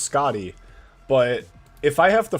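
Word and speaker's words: Skadi: No, it's not a matter of I I know that it's pronounced Scotty, but if I have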